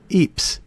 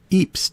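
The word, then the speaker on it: Ypres: it but this is England and the local pronunciation here in Ry is Eeps this is Eeps Tower the structure looks like the classic Castle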